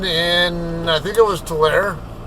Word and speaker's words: Tulare: Or people call it Tulare, but I don't know why. By the way it's spelled, it should be Tulare. The E is supposed to be silent, and it tells that the A is pronounced A and not A. Or A. Kind of like cane and can.